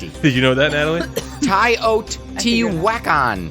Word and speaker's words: Teotihuacan: Tai Oat T Whack-On. Teotihuacan.